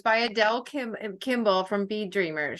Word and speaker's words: Adele: was done right um Adel Kimel is the and I've saying her name wrong but but a d l e is the first name last name Adele it's Adele yeah and um and her